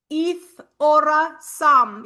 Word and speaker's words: Aethorasum: So this will be a beautiful addition, and I call it Aeth Ora Sum. You don't have to roll your R if you don't want to.